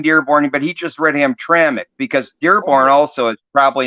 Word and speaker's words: Hamtramck: yeah Hamtramck is got and and it is pronounced Hamtramck even though it's missing the vowel and mck